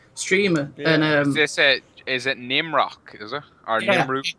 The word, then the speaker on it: Nimrook: I can spell it for you. It's NIMROOKGM. So it's Nimrook.